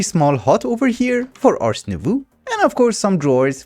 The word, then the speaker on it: Ars Nouveau: actually told me that I'm pronouncing Ars Nouveau incorrectly. As my dad used to say, I have no talent for French language. So apparently it's Ars Nouveau, which is incredibly hard for me to say.